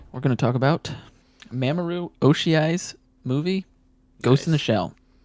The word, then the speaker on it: Mamoru Oshii: So Ghost in the Shell by the director is Mamoru Oshii.